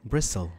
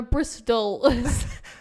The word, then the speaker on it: Bristol: Bristle. Bristle. No, Bristol. The T is silent. Bristle and Bristol. Two different words.